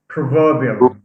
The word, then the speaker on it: proverbial: we add ial provo proverbial proverbial yeah proverbial so stress is shifted from the first to the second okay another one is